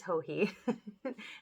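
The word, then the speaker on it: Joji: her last name but her first name is hohi it's spelled j-o-j-i and her caramel sauce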